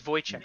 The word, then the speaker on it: Wojciech: but is that not Voy? W is a V, and I think J might be pronounced more like a Y. Isn't this his name's Wojciech, I believe?